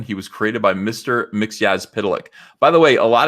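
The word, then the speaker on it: Mxyzptlk: McGee as pedelec by the way a lot of people are you impressed that I know how to pronounce that have you ever heard mr. Mickey as podalic pronounced maybe on the cartoon that was about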